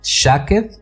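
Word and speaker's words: שָׁקֵד: Cuando Jeremías vio el almendro, la palabra almendro viene de una palabra que se escribe S-H-A-K-E-D, shaked o shaked, es que estoy pronunciando en inglés, es shaked.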